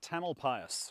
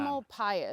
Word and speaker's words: Tamalpais: Mount Tamalpais, or Mount Tam. Tamalpais.